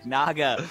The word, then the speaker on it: Naga: I said Naga! With an A, Naga.